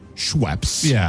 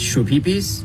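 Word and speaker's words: Schweppes: full sugar Shu pees of course it's supposed to be scheps right scheps ginger ale which of course has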